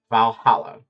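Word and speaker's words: VA-11 HALL-A: playing a game called Valhalla. And yes, that's actually how you pronounce it. It's just the way they stylized the ones to replace the L.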